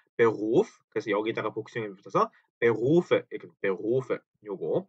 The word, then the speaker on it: Berufe: 자, 요거 가지고 발음을 되게 좀 힘들어하세요. 왜냐하면 요 독일어의 R 발음이 때문인데요. 이거를 어 일단 원형은 Beruf죠. Beruf 요렇게 써 놓고 나서 이거를 읽어 보세요 그러면 Berufe 그 우리말로 치면 Berufe 정도 되겠죠. 요 루 때문에 많이들 어려워하시는 거예요.